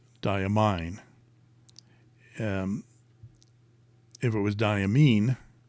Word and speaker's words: Diamine: Marilyn darling should know English says that the E makes the I say its name yeah like it's mine it's yours diamine um if it was